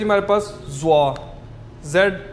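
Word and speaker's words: 坐: लिए हमारे पास word use हो होता है जवा जड यू ओ जवा ठीक है इसकी एग्जांपल्स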